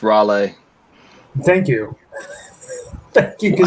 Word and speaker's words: Raleigh: that yeah that's a great pick and it's pronounced Raleigh thank you thank you how that translates to